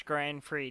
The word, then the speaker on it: Grand Prix: It is spelled with an X, but the X is silent.